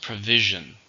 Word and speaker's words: provision: noun a countable noun how many syllables provision three stresses in a second here's a sentence you